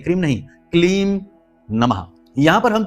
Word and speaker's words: क्लीम: ओम ह्लीम श्रीम क्लीम नमः। यहां पर ह्लीम है, ह्रीम नहीं, ह्लीम, ह्लीम, ह्लीम, श्रीम, क्लीम। यहां पर क्रीम नहीं, बहुत से लोग क्रीम कहते हैं, क्रीम नहीं, क्लीम नमः।